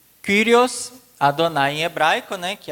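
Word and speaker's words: Κύριος: No grego, Kyrios. Esse Y no grego é igual o U no francês.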